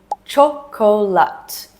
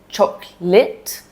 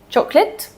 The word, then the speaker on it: chocolate: So you see the word chocolate in a book and you confidently say chocolate when you read it. And then a native speaker comes along and says chocolate, chocolate, and you're like, wait, what?